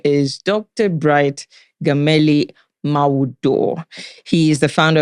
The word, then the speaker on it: Gameli: I'm just there like, okay, it's just Gameli, all right?